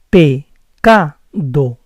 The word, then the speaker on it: pecado: It has to be like this: pecado, pecado. Remember, soften the P and C, pronounce D clearly, and don't say O, because the vowel is O, pecado.